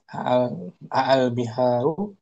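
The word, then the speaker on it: أَالْبِحَارُ: Kemudian kita tambahkan hamzah istifham sebelumnya, maka dipanjangkan hamzahnya. Tuh. A'al biharu itu asalnya a'al biharu maka menjadi panjang. Al biharu jam'ul bahri itu cara bacanya.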